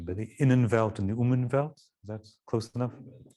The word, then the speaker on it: Umwelt: I'm going to embarrass myself with my German pronunciation, but the Innenwelt and the Umwelt, is that close enough? Umwelt.